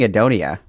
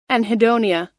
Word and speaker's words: anhedonia: I've been saying adonia. Anhedonia. I just I was missing the N. I was missing the N. Anhedonia. God, that's embarrassing. I say adonia. I just don't pronounce the N because I I can't read. I'm dyslexic. I just wasn't saying the N.